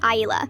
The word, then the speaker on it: Isla: My daughter's name is Isla, pronounced Aila.